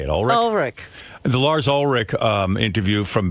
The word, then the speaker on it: Ulrich: Ulrich.